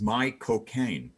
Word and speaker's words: Michael Caine: to say the name Michael Caine, the actor Michael Caine. The way to do it is to say the words "my cocaine," my cocaine, my cocaine.